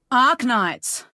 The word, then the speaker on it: Arknights: Ark Knights. Ark Knights. Yeah, but okay. Once again on the Ark Knights, she pronounces the R correctly, but not the K.